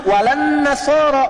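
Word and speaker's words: النصارى: Cuman kita bacanya pakai kan alif lamnya syamsiah tuh. Ya, lamnya masuk ke nun, walan nasara. Padahal itu tulisannya la, wala an-nasara.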